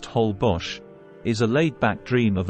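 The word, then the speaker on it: Holbox: these glowing microorganisms is on moonless nights hbars pronounced hbos is a laid-back dream of an island off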